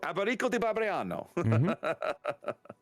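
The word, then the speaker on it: Alberico da Barbiano: Alberico de Barbiano.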